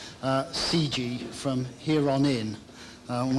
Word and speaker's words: CGHE: In case you're wondering, CG has a silent H like Wonkhe.